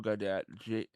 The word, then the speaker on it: Gaudet: Joe Goddard. Last name is spelled Gaudet.